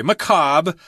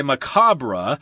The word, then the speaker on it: macabre: et re McCobb here you wouldn't pronounce the re if you're speaking English I suppose if you're speaking French would say McCullough or something like that but in English we just say McCobb I guess some people